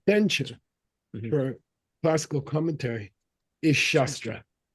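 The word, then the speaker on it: śāstra: for classical commentary is shastra with a long a shastra okay okay what's chestra mean if you don't make it long weapon sword knife sorry yeah a blade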